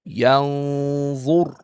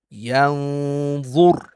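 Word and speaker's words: يَنظُر: And in this case, we have to hide the noon and do ghunnah for two beats. And this is how it's going to be pronounced. Yan zur. Yan zur.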